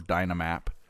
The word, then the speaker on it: Dynmap: So, the only plugin that we're running right now is Dynmap, D-Y-N-Map. Or Dynamap, however you want to pronounce it.